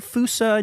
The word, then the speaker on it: Fossa: And why are we saying Foosa, not Fossa? Are both acceptable? Because it's spelled Fossa.